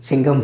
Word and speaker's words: signum: Signum, many of you last year pronounced signum function. Okay, you pronounce however you feel comfortable. My teacher taught me to pronounce this as signum. S-I-G-N is sign, signum.